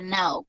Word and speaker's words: now: Se escribe no, pero se pronuncia now, ¿listo? Con A, now, now, como en las películas que dicen right now, así.